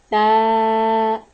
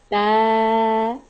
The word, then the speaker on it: ت: The letter of Ta pronounced from tip of the tongue touching root of the front two teeth. Ta. Ta.